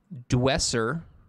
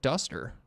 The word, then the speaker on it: DUSt3R: Dwesser. That's not how you say it. It's called Duster.